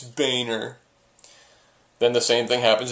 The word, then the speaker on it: Boehner: hand and says uh no it's pronounced Boer and the teacher's like really because it looks like boner and he says yeah well it's not it's Boehner then the same thing